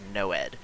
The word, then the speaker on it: NOED: have changed it to the acronym noed which most people pronounce as noed so if you hear